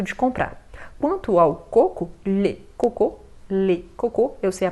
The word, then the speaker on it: coco: Quanto ao coco, le coco, eu sei a pronúncia parece com outra coisa, né?